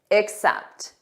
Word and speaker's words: except: Don't worry if you can't hear that difference because it is context that will tell you which one you need. But keep practicing and try to get that pronunciation difference.